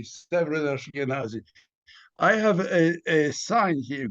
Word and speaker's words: Severyn Ashkenazy: And is it Severyn Ashkenazy? Am I saying your name right? You're pronouncing it perfectly. Severyn Ashkenazy.